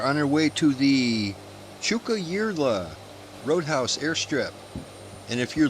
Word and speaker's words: Tjukayirla: believe it or not, I'm saying it properly. I looked it up. The Tjukayirla Roadhouse. You know, Tjukayirla. It begins with a T and a J.